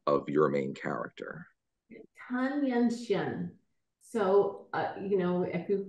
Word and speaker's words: Tan Yunxian: She says, how do you pronounce the name of your main character? Tan Yunxian.